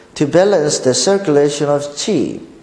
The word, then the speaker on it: qi: 자, 중국어로는 치라고 발음합니다. 기라는 소리죠. 즉, pronounced qi라고 나오죠.